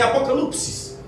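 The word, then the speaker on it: ἀποκάλυψις: Alguns versículos são citados no aramaico, pouquíssimos, mas o Novo Testamento foi escrito em grego com e a palavra apocalipse, no seu original, a pronúncia é apocalipsis, significa revelação.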